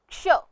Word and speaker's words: क्ष: यह व्यंजन दो अक्षरों के मेल से बना है। पहला अक्षर है क और दूसरा अक्षर है श षटकोण वाला। इस व्यंजन में क का स्वर बहुत हल्के से लिया जाएगा और श का स्वर बहुत जोर देकर लिया जाएगा और इस तरह से इसका उच्चारण बन जाता है क्ष।